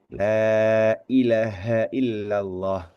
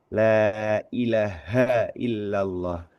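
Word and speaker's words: لا إله إلا الله: baca Bacaan tahlil misalkan lailahaillallah. Lailahaillallah. H-nya juga perlu kita tekankan di sini gitu loh. Kita pastikan bahwa huruf ha di situ itu terucap gitu ya. Tidak sekedar lailahaillallah bukan tapi lailahaillallah bukan ilaha tapi ilaha gitu kan ya.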